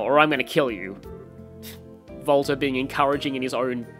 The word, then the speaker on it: Walter: i'm gonna kill you volta being encouraging in his own special way and yes according to the katakana it is pronounced like a v not a w i'd rather avoid death